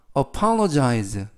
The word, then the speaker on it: apologize: 끔찍한 날씨야라는 뜻이 되겠습니다 apologize apologize apologize라고 발음하시면 되겠고요 이때 단어가 길어서 강세를 알려 드리면 알파벳 이번 단어에서 알파벳가 두 개가 나오는데 첫 번째 나온 는 알파벳 5에 강세가 있습니다 그래서 apologize라고 발음하시면 되겠고요 품사는 동사 뜻은 사과하다라는